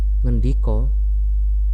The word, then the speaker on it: ngendika: bangun, ora artinya tidak, ngendiko tulisannya ngendika tapi bacanya ngendiko.